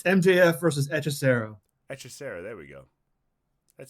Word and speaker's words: Hechicero: How do you pronounce this guy's name? Wait, Hishirisu?